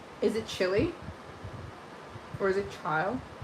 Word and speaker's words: Chile: Pronounce chili like the country. I love it. Chile. We're on the same wavelength. Chile.